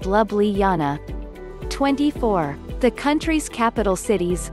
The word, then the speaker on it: Ljubljana: Ljubljana is pronounced Lubliana.